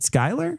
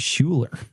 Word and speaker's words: Skylar: Is it Skylar? Mm-hmm. I would have said Schuler. Yeah, Skylar. Skylar.